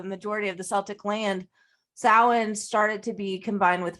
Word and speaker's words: Samhain: I think it's Samhain. Samhain. It's spelled Samhain when it's Samhain. Always confusing.